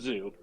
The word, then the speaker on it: Xxiou: her but um I I knew it was Zoo but I could but I had said it wrong for so long I